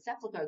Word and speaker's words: sepulchre: unless Sepulchre sat plonker that's a three syllable word Sepulcher that's another name for